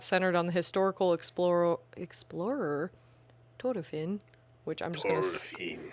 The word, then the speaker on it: Thorfinn: But in the anime, whenever somebody pronounces it, they always roll that. They roll that R hard.